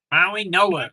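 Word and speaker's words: Mauigoa: Maui Noah. That's actually how you pronounce it.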